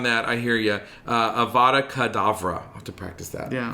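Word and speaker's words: Avada Kedavra: abracadabra it's avada kavadra avada kadavra yep uh of course it's meant to sound like the phrase yes so i think what i usually say is avraha kadavra that's how i usually mispronounce it so it's not quite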